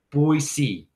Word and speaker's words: Boise: I got to pronounce it correctly. Boise.